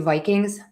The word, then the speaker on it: Vikings: And let's do Vikings, Vikings, Vikings.